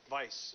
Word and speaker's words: Weisz: I'm saying it right Vice yeah Vice even though it looks like we or wise it looks like wee Wheezy I get all sorts of pronunciations but it's Vice like the opposite of virtue you know yeah or